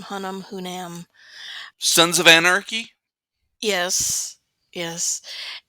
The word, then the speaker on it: Hunnam: I don't know how you pronounce his last name. Hunnam.